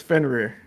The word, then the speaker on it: Fenrir: the wolf's name it's finier close how do you say it it's fenrir fenrir so it's rear Fender okay say say the